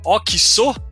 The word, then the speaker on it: Oxxo: por outro assunto primeiro a pronúncia correta é o que sou é isso mesmo é isso mesmo boa